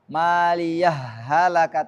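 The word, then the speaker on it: مَالِيَهْ هَلَكَ: Boleh Idam boleh sakta ada dua cara bacanya kalau id gam berarti kita masukkan hal pertama maliahaka tanpa ada Jedah maliah halaka kalau sakta maliah halakani sultaniiah ah baik sampai sini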